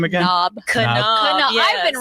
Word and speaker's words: Knaub: Knaub, yes. I've been wrong. I said knob like a doorknob. Knaub. For some reason, this part of my husband's family pronounces the K.